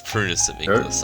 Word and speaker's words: Prunus Amygdalus: it's Prunus Amygdalus. I don't see why you people keep getting the name wrong.